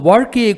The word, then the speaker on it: வாழ்க்கை: இப்போது வாழ்க்கையை குறிக்க உண்டான சிறப்பு லகரம்தான் ழ என்ற ஒளி இந்த மேலெண்ணத்தை தொடாமலும் உச்சரிக்க வேண்டும் இப்படி பிறந்ததுதான் ழ என்ற ஒளி இந்த ஒளியை முருகன் புதிதாகத்தான் உருவாக்கினார் இப்போது வாழ கை என்ற சொல்லை இந்த சிறப்பு லகரத்தோடு உச்சரியுங்கள் வாழ்க்கை ஆஹா வந்ததா வாழ்க்கைக்கான சொல்